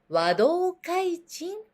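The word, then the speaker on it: 和同開珎: Nó được đọc là "wadokaichin".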